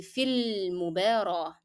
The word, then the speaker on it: في المباراة: So here you're going to drop, of course, the pronunciation and the sound of ألف and move directly from the long vowel ياء to the لام in المباراة. So it will be في المباراة.